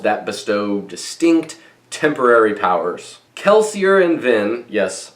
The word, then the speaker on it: Kelsier: bestow distinct temporary powers kelsier and Vin yes I'm going to pronounce it kelsier and not keler are the two stars